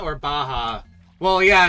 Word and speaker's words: baja: Is it said baja or baja? Well, yeah, it's it's a Spanish word, so the J would be pronounced like an H, right?